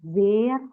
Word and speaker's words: sehr: Kalau ada H setelah vokal itu kan dibaca ya, jadi agak dipanjangin. S dengan vokal itu bacanya kayak Z, tapi kalau vokal habis itu ada H, berarti vokal sebelumnya itu dipanjangin nadanya. Berarti bacanya sehr hell schön.